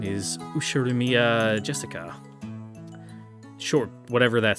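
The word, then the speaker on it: 朱志香: kind of weird name you see that set of Kani is pronounced Jessica she's dad's older brother's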